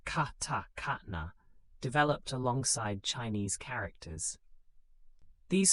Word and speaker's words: katakana: Simplified phonetic scripts called hiragana, pronounced hiragana, and katakana, pronounced katakana, developed alongside Chinese characters.